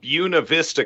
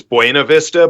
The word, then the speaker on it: Buena Vista: or Buena Vista, Colorado, which is the funniest thing ever. It's Buena Vista, but they're like, nope, that's not how you say it.